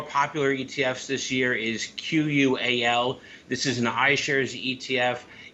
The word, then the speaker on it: QUAL: ETFs this year is q-u-a-l this is an ishares ETF it's qual is how I would pronounce it higher quality Blue Chip